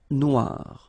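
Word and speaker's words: noire: So it's quite funny because you will have to add this E at the end of noir for the feminine form, but then you don't pronounce it. Okay, so phonetically, it is exactly the same.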